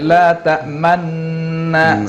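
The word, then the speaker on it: لا تأمنا: Misalnya bacaan-bacaan yang gharib ya, yang asing-asing itu seperti misalnya bacaan Ishman, tulisannya la ta'manuna, nah, tapi bacaannya la ta'manna sambil monyongkan mulut ya, atau tulisannya bismillahimajroha ya, tapi bacanya bismillahimajreha.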